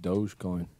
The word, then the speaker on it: dogecoin: coins what's a dog coin i think it's pronounced dogecoin but uh i think any crypto currency olympic